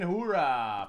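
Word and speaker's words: Hiura: very nice heist in hoorah for the Brewers that's how you say his name I think it is yeah like the Marines belly and Lourdes Gary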